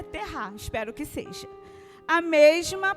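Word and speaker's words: tevah: Estudiosos dizem que a palavra hebraica terá, eu não sei se é assim que se pronuncia, vou soletrar para vocês, T-E-V-A-H. É terá que se fala, Raquel?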